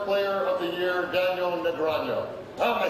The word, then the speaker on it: Negreanu: Presenting the next award is last year's Card Player of the Year, Daniel Negreanu. Oh, am I saying that right, Negreanu? Negreanu, how do you say it? Negreanu.